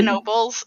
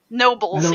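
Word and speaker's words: Knoebels: dirt poor pennsylvania towns go back and forth with whether or not you pronounce the k and k nobles that's how you know we're authentic pennsylvanians but seriously if you if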